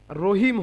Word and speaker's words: রহিম: রয়ের একটি কায়দা হচ্ছে যে রয়ের পূর্বে যদি জাবার অথবা পেশ থাকে তাহলে রকে মোটা করে উচ্চারণ করতে হয়।